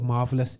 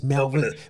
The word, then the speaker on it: Melvelous: I call it Marvelous, but it's Melvelous.